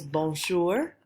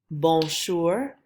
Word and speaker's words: bonjour: So our first phrase is bonjour, bonjour. If you remember, this one's really nasal, it's up in your nose.